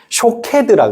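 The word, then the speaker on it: שקד: 그리고 읽을 때 그걸 쇼케드라고 읽으면 쇼케드라고 읽으면 아몬드가 되는 것이고요. 그걸 샤케드라고 읽으면 지켜 주심이란 뜻이 됩니다. 모음이 없이 자음만 적혀 있는데 쇼케드라고 읽으면 아몬드가 되고요. 샤케드라고 읽으면 지켜 주심이 돼요.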